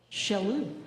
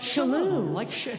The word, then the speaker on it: Chellow: It's like the shell in Michele. Chellow. Chellow. It's like a sneeze. Like Chellow.